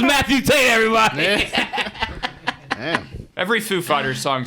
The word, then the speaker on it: Foo Fighters: Food Fighters? Foo Fighters.